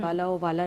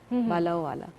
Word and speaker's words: بالا و اعلیٰ: سب سے اولا و اعلیٰ ہمارا نبی, سب سے بالا و اعلیٰ ہمارا نبی, بالا و والا نہیں, بالا و اعلیٰ.